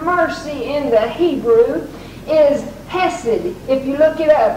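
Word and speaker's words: חסד: That word mercy in the Hebrew is Hesed. If you look it up, it's spelled C-H-E-C-E-D, but it's pronounced Hesed, the mercy of the Lord.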